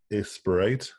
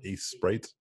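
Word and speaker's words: Aseprite: you're interested is called a sprite it's it's like if ace was spelled with the s and then print at the end so a sprite and then let's pin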